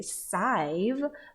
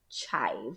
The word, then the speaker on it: chive: like its name so we would say sive but then this is actually called chive with the proper pronunciation it is chive okay and what do